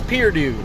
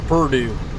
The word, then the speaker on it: Perdue: across the river because mine is spelled with an e and not a u it's pier dude not purdue there we go there's purdue